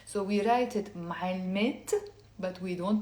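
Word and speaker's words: معلمتي: to say my teacher, I'm not going to say معلمة with the e plus another e. It becomes معلمة. That's wrong. What we do is we have to pronounce the te marbuta, and we actually drop the first e, and it becomes, say with me, معلمت.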